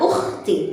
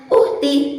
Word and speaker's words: ukhti: Seumpama kita akan melafazkan kosakata ukhti atau akhi bukan dengan pelafalan uhti ataupun ahi, maka itu adalah pelafalan yang salah, karena huruf kha dikeluarkan